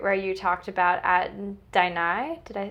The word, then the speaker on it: Daini: I loved the part where you talked about at Daini, did I pronounce that right? Daini.